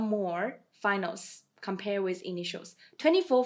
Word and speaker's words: m: And M is pronounced as Mo, Mo.